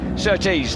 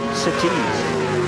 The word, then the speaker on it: Surtees: he breaks through at Surtees. Now over the crest of the hill. I like the way you say Surtees. I like that. It is a northeastern affliction, emphasising the second syllable.